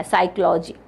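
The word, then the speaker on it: psychology: सीओ को ए Oziva साइकोलॉजी so what is the correct spelling of साइकोलॉजी the correct spelling of साइकोलॉजी इ option number A पी एस वाय साई इसमें पी आपका silent है पी एसवाई सी एओ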